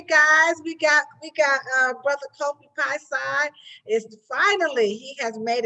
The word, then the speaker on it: Piesie: Well, my name is I picked this name Kofi Piesie, or Kofi Piesie is how the last name should be pronounced. It's Piesie. But I pronounce it Kofi Piesie.